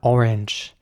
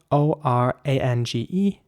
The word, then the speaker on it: orange: Next up, orange. Orange is spelled O-R-A-N-G-E, and here it is important to pronounce the G like a G. So it's orange, not orang, but orange.